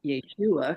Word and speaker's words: Yeshua: I began praying to I call him Yeshua because that's his true pronunciation of his name in Aramaic the language he spoke Jesus is what the